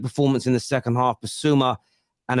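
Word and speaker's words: Bissouma: Basuma and Adoji.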